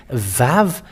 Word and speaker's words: Vav: Vav. It is pronounced as V.